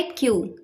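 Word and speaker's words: queue: इसके स्पेलिंग में पांच लेटर्स हैं। लेकिन इसको हम सिर्फ बोलते हैं क्यू। तो इसकी करेक्ट प्रोनाउंसिएशन होती है क्यू। पांच लेटर्स में सिर्फ क्यू को हम प्रोनाउंस करते हैं। बाकी जो और लेटर्स होते हैं वो ऑलमोस्ट साइलेंट ही होते हैं।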